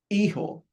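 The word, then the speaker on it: hijo: You know uh we can create a word just out of these syllables. A look. H I J O. Eho that means son.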